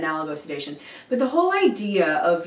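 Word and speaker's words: analgosedation: this whole idea of what they're calling anglo-sedation or analogo-sedation. You might hear it pronounced either way, but I pronounce it analogo-sedation.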